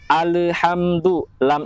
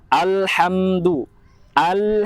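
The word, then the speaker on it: الْحَمْدُ لِلَّهِ: adalah ketika membaca alhamdulillah kebanyakan al-hamdu lele itu dibaca mantul seharusnya lam itu tidak memiliki sifat dari memantul alhamdu lillahil hamdu lillaahi robbil Robby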